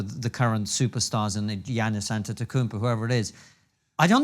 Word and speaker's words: Antetokounmpo: James or whoever the current superstars in Giannis Antetokounmpo, whoever it is. I don't think they'll be able to notice. Say that again? Giannis Antetokounmpo.